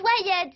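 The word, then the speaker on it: wired: ça veut dire quoi viread ça se prononce wyeth ça veut dire connecter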